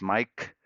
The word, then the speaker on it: Maic: Yeah, my name is spelled MAIC and sounds as Mike.